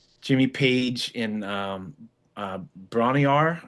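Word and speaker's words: Bron-Y-Aur: And also um Jimmy Paige and um uh Bronny Rar I think I'm saying it right. Not Bronny R stomp, but just the B R O N hyphen Y hyphen Aur.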